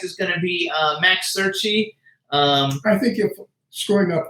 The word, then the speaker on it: Cerchi: Our first guest is going to be Max Cerchi.